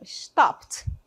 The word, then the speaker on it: stopped: Então, stopped. Stopped é a pronúncia stopped com som de T mesmo ali, tá bom?